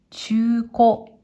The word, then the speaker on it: 中古: これは、中古、中古。